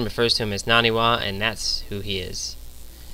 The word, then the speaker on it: NaNiwa: actually naniwa last game I was calling him Nani and then actually I started calling him Anie because his name is spelled n capital A and I so I started calling him Anie but it's actually naniwa I wasn't sure um